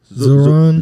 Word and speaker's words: Zohran: How do you pronounce his first name? Zohran.